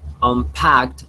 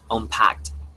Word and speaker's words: unpacked: It's like look at. Immediately I telephone. Yeah, like looked, like watched.